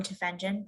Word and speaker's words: Tufenkjian: I'm originally from Florida, which Hi, my name is Tufenkjian, pronounced like tough engine, and I use she, her pronouns.